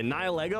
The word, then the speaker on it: Nihilego: I guess what you do is you build Nihilego? Nihilego? Nihilego? Is that how you say it, chat? I don't know. The same pronunciation as nihilistic.